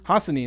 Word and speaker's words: Hassanin: And I used Hassanian's quote, or am I butchering his Hassanin? Hassanin, there we go. I think that's how it is. I'm adding like an extra syllable to his name.